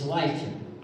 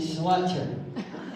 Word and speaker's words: Slicer: My actual last name is Slicer, but it's spelled weird. And this is not a joke. People keep pronouncing it Slutter.